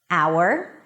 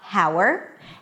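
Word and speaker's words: hour: There are some words that the H is there in the spelling but is absolutely not pronounced. And here are the words. Our it's not how. And yes, it sounds just like our as in our company. Our honest, not honest. Honor as in your honor.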